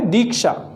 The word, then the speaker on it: दीक्षा: शुद्ध उच्चारण क्या है, दीक्षा। क्या है, दीक्षा। किसकी ध्वनि आ रही है, बड़ी ई की ध्वनि आ रही है।